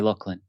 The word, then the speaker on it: Lachlan: But you're actually able to say it correctly, so feel free to say Lachlan.